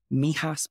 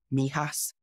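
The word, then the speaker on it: Mijas: not forget the small villages and weblow like Mias weblo m i j a s Mias J pronounced it h and of course our favorite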